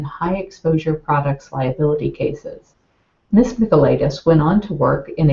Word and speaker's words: Mikolaitis: Well, it is pronounced Mikolaitis.